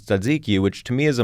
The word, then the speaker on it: tzatziki: People don't care about how you pronounce tzatziki, which to me is a much more difficult, like, TZ together.